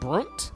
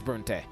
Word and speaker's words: Bronte: Is a small dot l uh on a on the map labeled is it Brunt? Is that how it's pronounced? Bronte. Bronte. It is Bronte.